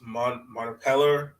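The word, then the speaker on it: Mompremier: So I think the only one so far I think that's taken the qualifying offer is Beatrice Montepeller.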